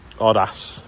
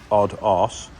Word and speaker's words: Aodes: So, this is the um Odd Ass, it's pronounced. As in Odd Ass.